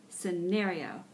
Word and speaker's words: scenario: is scenario scenario scenario scenario you see that SC that c is silent it's just scenario okay number six the